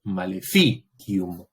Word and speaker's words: maleficium: Esa I de ki es una I breve, entonces el acento cae en la anterior, maleficium.